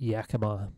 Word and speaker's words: Yakima: I believe most people pronounce it Yakima.